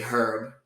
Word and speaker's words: herb: In the Caribbean, we say herb. The H is pronounced.